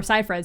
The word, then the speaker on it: Seyfried: They don't even, like, Amanda Seyfried's not even as old, or Seyfried, sorry, that's how you say her name.